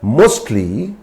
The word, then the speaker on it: mostly: For example, mostly in the word mostly T is not silent, but in a fast speech, we can say mostly, though in formal speech, this T is pronounced, but when in an informal situation, we can make this silent.